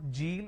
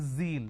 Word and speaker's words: zeal: jar it's a mispronunciation it's not jibra it's zebra it's not john it is zone it's not g it is zeal it's a z sound another mistake that people